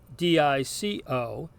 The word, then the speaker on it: dico: In other words, it sounds like the long E sound in our word seek. So this Latin word, spelled D-I-C-O, is pronounced dico, which means I say.